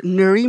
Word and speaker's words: Nury: that good okay until now my name is Nuri and it's spelled n-u-r-y how do you introduce yourself as